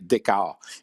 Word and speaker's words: Dichow: Ça s'écrit D-I-C-H-O-W, mais il faut prononcer Decker.